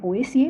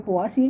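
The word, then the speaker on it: Poaceae: इसका फैमिली है पोएसिए या फिर पोआसिए, जो आप प्रोनाउंस करते हैं।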